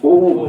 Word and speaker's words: Ohm: का नियम हम लोग को लिखना चाहिए था ओम, सही वर्ड है ओम, ओ ह म, ओम है ना।